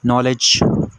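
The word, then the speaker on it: knowledge: नॉलेज, ये case में silent है।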